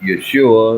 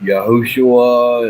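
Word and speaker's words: ישוע: Jesus a different way I pronounce it Yeshua and others pronounce it yahushua and well all the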